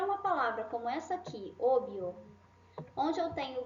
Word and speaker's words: obvio: Então, eu não preciso falar obíbio. Não, até fica esquisito falar isso, né? Obvio, sim? Obvio.